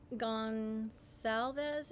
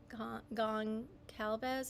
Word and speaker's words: Goncalves: Idaho victim Kaylee Gonsalves. Is that how you say it? Goncalves or Consalves? I think it's Consalves.